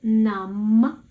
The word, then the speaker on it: numb: Feel numb. We say m, no b.